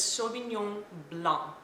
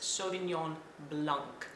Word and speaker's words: Sauvignon Blanc: so the French pronounces Sauvignon Blanc they actually leave out the K or the C at the end and in this particular